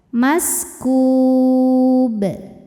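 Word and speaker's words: مسكوب: Cara bacanya dipantulkan dengan pantulan yang besar. Maskub.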